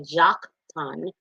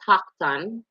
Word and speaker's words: Joktan: transcription and dialect um in our country we pronounce things that should be pronounced with an h with the j so some may say jock ton but it's hakan right uh and a lot of languages those j should actually be h right so paktan was